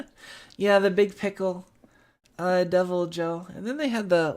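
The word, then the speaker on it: Deviljho: definitely topped here like tempered i call him devil joe i mean that's how you pronounce it uh devil joe uh no not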